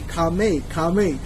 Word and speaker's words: Khmer: I have also learned that the R is silent and E says by A. Khmer. So I will follow this now, Khmer.